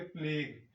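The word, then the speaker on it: pledge: Play days मतलब यहां पर जो डी है यह यहां पर साइलेंट है। इसको क्या कहेंगे? प्लेग।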